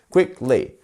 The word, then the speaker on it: quickly: We have 2 syllables, quickly. So is it our first one? Is it quickly or is it quickly? Which one is it? It's our first syllable, right?